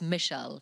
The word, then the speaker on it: Mishal: um she she said the way she always pronounce my name was Michel so in uru MIM